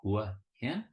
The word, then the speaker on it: Hua Hin: the land of smiles so think of Hua hin what can with Rising tones at the end is it one two